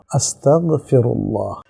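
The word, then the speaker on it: أستغفر الله: গইনের উপর যখন জজম হবে, সাকিন হবে, তখন এটা পড় থাকবে না, আস্তাগফিরুল্লাহ।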